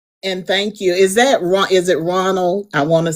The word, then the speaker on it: Ronald: Is it Ronald? I want to say it correctly. Yes, Is ma'am. it It's Ronald? Ronald.